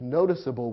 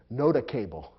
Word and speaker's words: noticeable: ought to be pronounced noticable or noticable and that would be wrong so the E makes it clear to the reader that the c or G is soft and ought to be